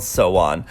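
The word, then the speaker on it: SONE: generation's fandom is called so on which is the same pronunciation as the word wish in Korean liked our song sawano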